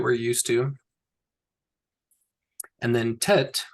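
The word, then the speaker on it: ט: And then tet is pronounced as in tail.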